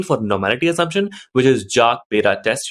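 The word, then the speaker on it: Jarque-Bera: normality assumption, which is Jark-Bera test. There is a lot of pronunciation for the same, like Hark-Bera, Jark-Bera. So it depends on what you use.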